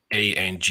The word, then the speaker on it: Angers: back by the way the pronunciation of that team is ang with an accent which i presume is on j or something to that effect so that the r and the s don't get don't get pronounced let's do it looking